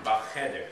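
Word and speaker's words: בחדר: Bacheder, the accent would be on the ch.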